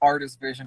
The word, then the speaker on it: RTS Vision: it's pronounced it's pronounced artist vision if you if you really it's pronounced artist vision like rts but yeah also just